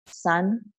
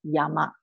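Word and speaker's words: 山: So in Japan, the Chinese way of pronouncing this word is san. The Japanese way is pronounced as yama.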